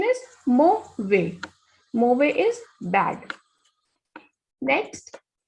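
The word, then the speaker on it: mauvais: you earlier also that whenever S is at the end, it is a muted consonant, so we will not pronounce it. The pronunciation is mo way.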